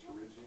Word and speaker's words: pterygium: This is called a pterygium. The T is silent.